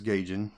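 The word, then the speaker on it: Gaijin: stayed with gay yet I think is gaging I think that's how it's pronounced it's spelled kind of weird as GA I J I n Cajun studios for 12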